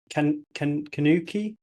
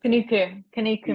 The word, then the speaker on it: Kanuku: Could you talk a bit about and explain what the 50 days crossing the Kanuki? Is that how you pronounce it? Kanuku Mountains. Yeah.